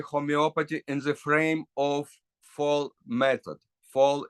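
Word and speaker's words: Voll: It's but pronunciation is fall.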